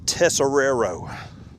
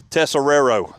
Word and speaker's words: Tesoriera: the last name field tessero there it is all right yeah buddy appreciate that I I actually cheated I put accents over the first s and over the second tessero so back when I